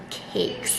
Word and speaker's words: caique: So if you aren't familiar with them, a lot of people accidentally call them Caique's parrot based on how the word is spelled, but it's actually pronounced Caique.